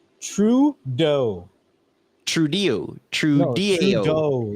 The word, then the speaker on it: Trudeau: Trudeau, like dough.